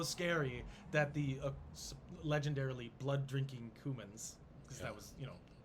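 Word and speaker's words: Cuman: kieving were the the cumins humans it's spelled c-u-m-a-n like the spice yeah uh they were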